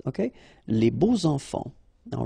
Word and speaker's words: beaux enfants: So you make the liaison between beau, so adjective, and enfant. And here it's quite interesting because even if you've got this X, well, phonetically it will be like Z, so like if it would be an S, okay?